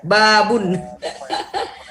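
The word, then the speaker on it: بابٌ: Babun. Bukan babu ya. Babun.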